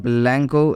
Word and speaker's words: blanco: can see that here C is pronounced as k okay it means whenever